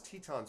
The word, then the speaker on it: Tetons: if i'm not mistaken and i'm am i pronouncing that right is it tetons or is it titans i thought it was tetons but maybe i'm wrong please correct me if